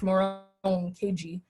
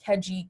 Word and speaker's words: Moronkeji: to pronounce my name, and it's Moron KG, and it's MORONKEJI. They'd say Keji, whatever.